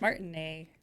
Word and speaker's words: Martinet: and uh Peter Cullen it's Martin a is it yeah I thought it was that's how he pronounces his name every time he introduces himself so I assume that is true why do I hear